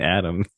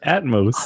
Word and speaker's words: Atmos: uh built into it why do you keep saying Adams Adams it's Atmos Adams oh is itos